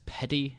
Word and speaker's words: PeTI: out it's another um I guess Petty is is how you pronounce p TI the training thing um